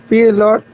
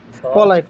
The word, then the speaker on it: polite: This is আ pilot, pilot, pilot, শব্দের উচ্চারণ হবে পলাইট, polite, polite.